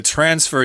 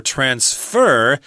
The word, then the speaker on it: transfer: should also mention the transfer here or transfer is often pronounced that way as a verb the accent on the second syllable but a lot of